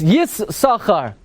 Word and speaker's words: Yissaschar: but we already saw if you want to pronounce both sins it's yes sakhar and that came out